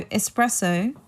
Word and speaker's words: espresso: got distracted there so espresso um you want to pronounce it without the X right so I hope